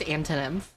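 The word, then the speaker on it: Antonymph: It is pronounced antonym. It is a combination of the word antonym and nymph.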